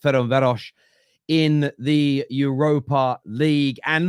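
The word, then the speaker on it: Ferencváros: whiteart Lane against F I think it's pronounced feron veros in the Europa League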